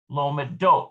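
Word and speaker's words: לומדות: we've got lomed lomadet it is shifted to the last syllable in the plural forms lomadine lomadote so you see how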